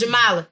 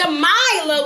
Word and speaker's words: Jamala: you my name is jamala Jama I said jamala jamaa I didn't say jamaa with a I said jamala just pronounce the i i jamala jamala i